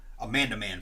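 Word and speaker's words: Amanaman: I was looking at my Amanda Man figure. I know you say it's not Amanda Man, but it is. I know you say I say it wrong. There's no D in it.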